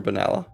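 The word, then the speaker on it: Benalla: could get a mug not how you say it that's not banala banala is how you pronounce it I live like half an hour from banala that is 100% how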